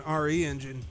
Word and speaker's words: RE Engine: built using capcom's own re engine and i guess it's pronounced re-engine because it's short for reach for the moon not resident evil like i thought the re-engine is based